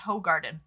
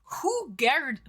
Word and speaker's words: Hoegaarden: Listen, I was today years old, Swede, when I learned that it's not pronounced Hoegaarden. It's Hoegaarden.